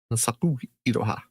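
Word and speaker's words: 花咲くいろは: Try Hanasaka Araha, I guess. Like 95% sure it's not that, but I don't know. How do you spell it? Be. Iroha. IROH. SO. Hanasaku. The U. Hanasaku Iroha.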